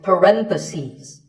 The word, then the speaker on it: parentheses: If you're talking about both, the plural is parentheses. The last syllable becomes ses, parentheses.